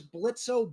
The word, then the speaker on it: Blitzo: Technically, his full name is Blitzo Buxo, but he has basically started pronouncing it Blitz with a silent O, and yes, his last name is Buxo.